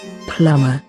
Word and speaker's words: plumber: it's plumber i think ah yes b might be silent so it's plumber and here's how it should be pronounced plumber plumber plumber plumber and